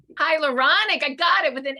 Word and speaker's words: hyaluronic: pronounce it for me hydrochloric acid did i pronounce that right i don't think so uh hydrolonic acid you've got to teach me that word before our next call say it one more time hyaluronic hydrolonic hyaluronic acid hyaluronic i got it